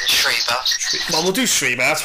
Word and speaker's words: Schreiber: We'll say she's Belgian, but I'm trying to say Schreiber. That's the German pronunciation, Schreiber.